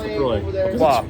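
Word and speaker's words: LaCroix: oh yeah lacroy lroy it's pronounced lroy cuz it's from Wisconsin oh so it's lroix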